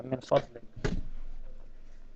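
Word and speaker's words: من فضلك: Yeah, min fadlik.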